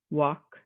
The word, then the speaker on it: walk: the other letters instead silent l like in the word could should yok talk walk cast calm chalk we're not saying the letter l in any of those so there's a